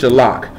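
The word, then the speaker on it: shalach: That word is shalak. You spell it S-H-A.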